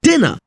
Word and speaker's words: dinner: Take the words diner and dinner. In dinner, the I is pronounced short.